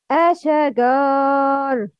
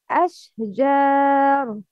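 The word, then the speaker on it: الشجر: The first one, Ashagar. The second one, Ashjar. Which one is right? The second one, Ashjar, not Asha, no Qalqala.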